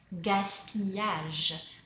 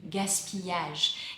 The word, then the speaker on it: gaspillage: Gaspi being the short word for gaspillage. The double L is pronounced y. Gaspillage.